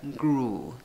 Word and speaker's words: grew: La U con dos puntitos, U larga. Grew, grew, ¿ok?